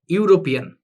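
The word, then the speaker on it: European: আচ্ছা, আমি বললাম এভাবে mister brown, mister brown is dash ইউরোপিয়ান, ইউরোপিয়ান। তাহলে এখন আপনারা খেয়াল করেছেন এখানে ই আছে, কিন্তু তারপর আমি বলবো এখানে উচ্চারণটা কি হচ্ছে ইউ। যেহেতু ইউ এর মতো উচ্চারণ হচ্ছে, তাহলে আমরা এখানে কি বলবো, অবশ্যই এখানে বলবো এ।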